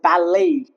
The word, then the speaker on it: ballet: For example, ballet misses the tea or the tea remains silent.